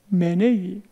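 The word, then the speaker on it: ὑπομένει: 모든 것을 견딘다 하는 것은 휘포메니안. 헬라에는 휘가 있어요. 근데 영어에는 휘 표현이 안 돼요. 그래서 그냥 HU라고 기록했는데 휘포메네이, 마크로수메이, 스테게이, 휘포메네이 모두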